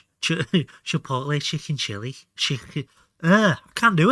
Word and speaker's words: chipotle: Not shipalate. Chipotle. Chicken chili. I can't do it. Am I going to have to ring Kyle? I swear we had some quills hidden somewhere. Chipotle.